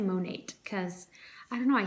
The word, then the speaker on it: Monat: I have been using the Monat, I'm gonna say Monat because I don't know, I hear people like on YouTube pronounce it Monat. I'm gonna say Monat, but there's no E at the end.